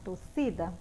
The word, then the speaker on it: torcida: Chama agora a palavra torcida como se você estivesse chamando uma pessoa. Como é que vai ficar? Torcida. Não é assim que fica? Então, quem é a minha sílaba tônica? Aí é o si. Logo, esse si é a minha sílaba tônica.